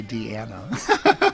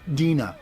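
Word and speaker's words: Deana: She wouldn't want to hear you say Deanna. Well, how do I pronounce it? Dina. Dina, okay.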